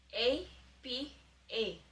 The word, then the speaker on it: apa: So the Indonesian word for this episode is apa. A-P-A. And you pronounce it as apa.